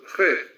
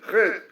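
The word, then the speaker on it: חטא: in Hebrew means sin, Chet. In Hebrew we write Chet, Tet, Aleph. The Aleph is paralyzed. We don't pronounce it, because this is a symbol for the soul, which a result of sin is paralyzed.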